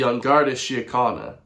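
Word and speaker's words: Garda Síochána: Is it uh Sha China? The Irish Police Force. That's kind of funny. I've never heard somebody actually pronounce It's the Ongard Shia.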